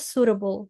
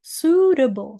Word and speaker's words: suitable: Yang kedua, ini bacanya suitable, suitable suitable, jadi i-nya hilang, kemudian t-nya nih bukan table tapi double.